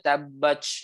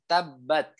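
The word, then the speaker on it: تبّت: Kemudian ketika sukun dia bukan ch ya. Contoh ada orang yang bacanya tabbach ya ada gitu ya. Padahal yang benar adalah tabbat. Tuh. Ketika sukun ya keluarnya adalah ada aliran udara, bukan tabbach. Seperti itu, tapi tabbat. Tuh, ti tu.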